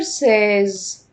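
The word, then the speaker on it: seize: دوز 13 تراز 13 تراز 13 تراز 16 ساز يبقىز دوسراز ساز كده فوتنا مين فوتنا 14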